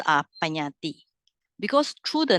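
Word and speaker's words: Paññatti: So Panyati. All right. So Panyati comprises names and things. So I get this one from the fundamental of Abhidhamma by Sayadaw Dr. Nanamala. Right. So the names are Panyati.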